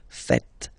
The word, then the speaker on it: faites: So remember, final S here is not pronounced, and then this E is not pronounced either. So faites, faites.